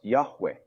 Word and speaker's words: Yahweh: In the Hebrew Bible, the name of God is written with four consonants and is pronounced Yahweh.